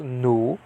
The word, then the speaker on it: nu: pronounced the name of the uh letter is pronounced nu okay the hebrew n by the way is